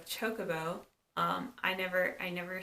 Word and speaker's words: chocobo: one of my friends I would always say Jacobo instead of a chocobo um I never I